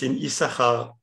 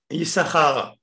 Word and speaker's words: Issachar: Mais une des différences qui est connue, c'est au niveau de la prononciation du mot Issachar. Vous savez qu'aujourd'hui, le mot Issachar, enfin même avant, est toujours, c'est dans le Sefer Torah, il est écrit avec deux signes. Deux signes. Sin, Issachar.